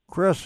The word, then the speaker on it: Kris: with the journey so my name again is Chris it's spelled k-r-i-s uh m-a-n-n so Chris with One